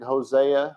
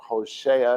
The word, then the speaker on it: Hoshea: can find it in hosea or hoshea if you want to say it right 2-2 or year me